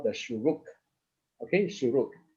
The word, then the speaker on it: shuruk: okay so this is what you call the shuruk okay sure like i mentioned just now it